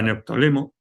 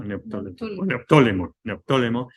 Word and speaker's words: Neoptólemo: allá y cogió al hijo de Aquiles, a Neoptólemo, se pronuncia así, ¿no? Neoptólemo, y le dijo, mira, vamos para allá y